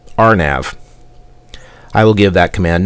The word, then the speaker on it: RNAV: navigation or area navigation it is pronounced rnav I will give that